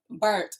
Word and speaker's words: burnt: So you have to get the T. Burnt. Yeah, right. Emphasis. Like period. Right, exactly. Keeping us warm, okay? Yeah, just be emphasizing that T.